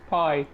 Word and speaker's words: Pi: How do you pronounce that? Pi. Pi, right? Like the Greek letter.